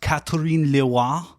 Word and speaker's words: Catherine Leroy: Her name was it's pronounced Catherine Leroy.